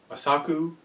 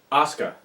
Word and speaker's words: Asuka: Kana, now known as Osaka, Kana, basically Asaku, I think. Asaku? I can't pronounce the name. Asuka, that's what it is, Asuka.